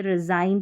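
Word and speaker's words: resign: जी silent है। इसको रिजाइन गन नहीं पढ़ते। रिजाइन पढ़ते हैं।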